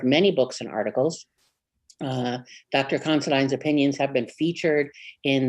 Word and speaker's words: Considine: Am I saying that right? Considine? You are. You got it. I know someone with that last name, and that's how he pronounces it.